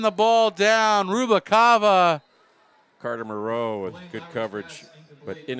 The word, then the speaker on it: Moreau: But this week, I put it into the playbook as Moreau.